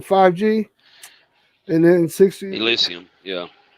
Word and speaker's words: Elysium: Elysium, yeah. Yeah, I know I said it wrong. I said Asylum. Elysium.